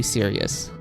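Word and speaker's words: Cyuss: nice to meet you Sirius yes that is literally how you pronounce his name Eagle his name is literally pronounced as like serious like seriously um anyway well then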